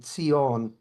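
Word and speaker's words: ציון: When we have you hear about Zion, Mount Zion, it's actually Tion doesn't even spelled with a a Zan or a Z.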